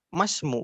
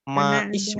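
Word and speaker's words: وَاسْمُ: Kenapa dibacanya masmu bukan maismu? Ada hamzah wasal.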